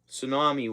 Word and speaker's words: tsunami: Tsunami warning. The T is silent.